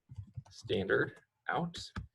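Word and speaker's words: stdout: location called standard out this is how you write standard out but that is pronounced standard out and then the greater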